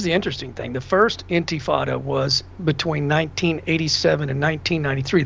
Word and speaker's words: intifada: And the very fact that this guy won't even speak out against a global antifada. Mm-hmm. How do you spell that?